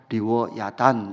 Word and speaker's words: 리워야단: 개혁 계정으로 바뀌면서 이것을 히브리 발음 그대로 베헤못 리워야단 요렇게 번역을 했습니다 여기서 베헤못이라는이 단어는 당일